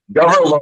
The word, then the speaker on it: Gawyrlow: It's Gawyrlow. Think low government. Okay, So well, Gawyrlow.